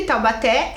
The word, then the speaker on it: Taubaté: Taubaté e Lúcia mas tá vendo que Taubaté é a última sílaba e Lúcia é a primeira sílaba vamos lá vamos e separar por sílaba certinho para ver olha lá tal B té uma duas três sílabas